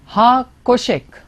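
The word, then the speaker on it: החושך: Now we pronounce it as अब यहाँ पर हम इसे ऐसे बोलते हैं ha koshek.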